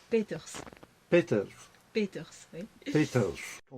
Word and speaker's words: Peeters: Et ça se prononce? Peters.